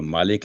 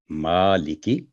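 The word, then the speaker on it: مَالِكِ: تھا مالک یوم الدین، تو مالک نہیں، میم پر ورٹیکل فتح ہے تو یہ ہوگا مالکی، ما کی آواز لمبی ہوگی 2 سیکنڈ، اور لی 1 سیکنڈ، اور کی 1 سیکنڈ، مالکی۔ تو یہ اس کا صحیح تلفظ ہے۔ اس کے بعد نیکسٹ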